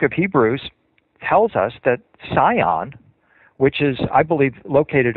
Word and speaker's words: Sion: It's called Zion. It's spelled with an S.